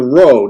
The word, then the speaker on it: rho: And then the rho. Now the rho looks like our P in English, but the rho is an R sound.